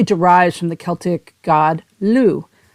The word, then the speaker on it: Lugh: from the Celtic god Lou spelled l-u-g-h but pronounced Lou he was a god